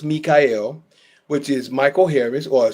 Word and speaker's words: Mi'chael: My Facebook is spelled spelled Michael but pronounced Mikael which is Michael Harris or should I say